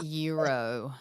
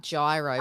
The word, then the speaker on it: gyro: suas is Euro Palmers euro is not like gyro what we call it like that's exactly what it is it's spelled like that gyro but it's called a EUR okay because for us